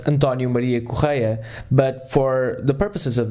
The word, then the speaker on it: Correia: am in fact Portuguese my name is actually pronounced and Dona Maria choir but for the purposes of this podcast will